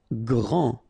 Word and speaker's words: grand: Grand. Final D not pronounced.